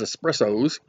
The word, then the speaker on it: espresso: or an espresso because espressos you have to say it like that espresso there are stronger they're